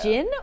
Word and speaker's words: djinn: djinn A or- djinn. Yes. Yes! It's spelled like gin.